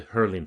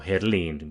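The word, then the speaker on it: Herlin: industrial dynasty of the Hurling family or Herlein we should be pronouncing in the Finnish way who bought in the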